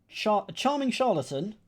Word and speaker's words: charlatan: A charming charlatan, hard C, soft C there, who avoids damaging his own reputation, somewhat dangerous.